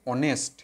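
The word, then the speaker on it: honest: Consonant, এ হওয়ার কথা, কিন্তু এর উচ্চারণ কি হচ্ছে অনেস্ট, অনেস্ট, অ, অ ভাওয়েল আসছে, অ ভাওয়েল আসছে, সেই জন্য কি হলো এখানে এন অনেস্ট হবে।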